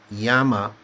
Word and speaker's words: Yama: His name is spelled with a short A, Yama, and this realm is called Yama with a long A.